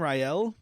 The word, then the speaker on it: Rael: So then we're introduced to Luthen Rael. Is that right? Yeah. Because I just read it. Well, Luthen is right. I cannot remember the last okay, it's name being R-A-E-L, said yet. so Rael sounds right.